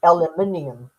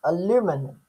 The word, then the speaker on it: aluminium: Um the first thing people say is aluminium which is what we say which is what we say. Americans say it aluminum.